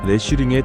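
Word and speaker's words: Riesling: 차가운 공기 속에서 만난 리슬링 현지인들 발음으로는 레쉬링에 더 가깝게 들립니다.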